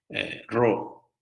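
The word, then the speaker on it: Ρ: es la segunda letra, Ro, que parece una P, pero en verdad se pronuncia como una R, ¿no?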